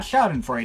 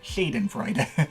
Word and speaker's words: Shadenfreude: all by themselves in Shadenfreude. Not Schadenfreude, it's spelled S-H, not S-C-H, so Shadenfreude.